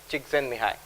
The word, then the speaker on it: Csikszentmihalyi: Tal Ben Shahar, and also incidentally the work of Professor Mihai Csikszentmihalyi. And yes, that's how you pronounce it.